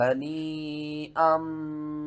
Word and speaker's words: هَنِيئًا: شَيْءٍ مِّنْهُ نَفْسًا فَكُلُوهُ هَنِيئًا مَرِيئًا۔ یہاں سے ہجے شروع کرتے ہیں۔ ہا زبر ہا، نون یا مد زیر نین، ہنی، حمزہ میم دو زبر ام، ہنی ام، میم زبر ما، را